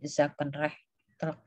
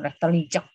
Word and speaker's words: zakenrechtelijk: Ada fungsi justisial dan ada fungsi zakenrechtelek. Zakenrechtelek membacanya. Rechtelek bukan rechtelijek. Rechtelek.